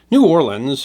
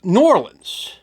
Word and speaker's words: New Orleans: new orleans and yes the people that live there generally pronounce that as one word and not two is a city known